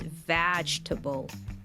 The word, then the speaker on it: vegetable: word like vable again this word has like four syllables but it's just pronounced with three right vegetable vagetable mhm all the